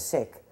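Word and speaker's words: Sikh: pronounce it that way I thought it was sik but it's sick uh were the biggest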